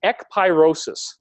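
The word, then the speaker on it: ekpyrosis: me before this point but the word is e pyrosis and there's different ways to spell it but you can look it up right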